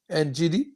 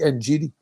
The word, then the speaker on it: Ngidi: That's how you pronounce his name? Ngidi? Yeah, no, it's fine. It's Yeah, fine. well, if I pronounce it wrong, you have to correct me because I see Ngidi.